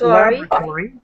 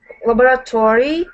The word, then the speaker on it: laboratory: began to work in a research lab labor pronounce it laboratory laboratory and in 189 for was placed second in